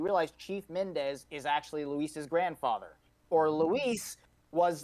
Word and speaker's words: Luis: And like he's Leon says his name wrong when he's like Lewis and all this stuff, like like it's hilarious. When he said it, I'm like, no, his name is Luis.